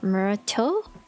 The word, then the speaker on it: Myrtle: You were at Mass too, Myrtle? I feel like every time I pronounce her name different, and every time it's wrong.